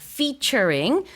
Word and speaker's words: featuring: 근데 영어로는 F 발음입니다. featuring 줄여서 FEAT dot 이렇게 많이도 쓰는데 함께 한다는 뜻이에요.